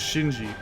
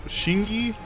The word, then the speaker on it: Shinji: His name is Shinji, but it's funny cuz no one else can say his name, so they'll call him Shingi.